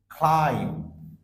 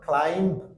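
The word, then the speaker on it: climb: ওয়ার্ডের মধ্যে সাইলেন্ট থাকতেছে সাধারণত কোন ওয়ার্ডের শেষে যদি এমবি অর্থাৎ এম আর বি কোন ওয়ার্ডের শেষে একসাথে থাকে তাহলে সেই ক্ষেত্রে বি ওয়ার্ডটা সাইলেন্ট থাকে মানে বি লেটারটা সাইলেন্ট থাকে তার মানে বি এর উচ্চারণ হচ্ছে না যেরকম আমরা এখানে উচ্চারণ করছি ক্লাইম ক্লাইম্ব সো আমরা বি সাইলেন্ট করছি অর্থাৎ ক্লাইম্ব বলছি না ক্লাইম্ব বলছি সো বোঝার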